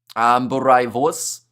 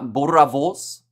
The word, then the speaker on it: boerewors: Roll the R. Boerewors. Boerewors. I think I'm getting closer, because what did I call it at the start?